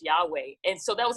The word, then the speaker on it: Yahweh: that i am well in hebrew it's yahweh it's it's uh and there's different pronunciations to it you know um some people say just yaw as god but it was just yahweh and so that was